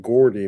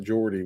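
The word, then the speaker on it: Gordie: g o r di we would tend to pronounce that Gordy not Jordy with the J yeah it should have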